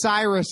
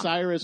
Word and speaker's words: Cyrus: there's a reason why his name is Cyrus and it rhymes with virus okay when you tell